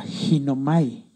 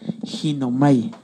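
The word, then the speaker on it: γίνομαι: Viene del griego, con el numeral del diccionario de números de Strong, que le pone el numeral 1096, y se pronuncia ginomai. Oiga esto, ginomai.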